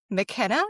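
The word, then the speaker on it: Makkena: It has a stellar cast with Whoopi Goldberg, Maggie Smith, Mary Wicks, Kathy Najimy, and Wendy McKenna. Is that how you pronounce her name?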